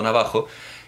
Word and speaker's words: navajo: Contar que un español estaba diciendo navajo, estaba hablando de los indios navajo y estaba pronunciando navajo, y alguien le dijo: "Hombre, usted pronuncia navajo como mi abuelo".